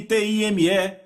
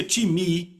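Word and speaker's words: τιμή: A palavra honra vem do grego timi, que se soletra time, T-I-M-E. Eu digo time porque é a nossa pronúncia, mas se pronuncia timi, e quer dizer uma valorização.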